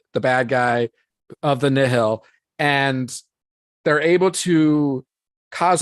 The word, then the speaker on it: Nihil: So that's when you get introduced to people pronounce it different, but I usually pronounce it Nihil. That's how I call them. I like Nihil. Yeah, Nihil. I think it's in the audiobook. That's how they were saying it.